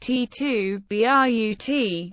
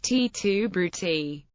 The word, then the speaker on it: Et tu, Brute: by Latin students pronunciation in classical Latin all letters are pronounced when spoken leading to the phrase being pronounced T2 b r u t as noted above the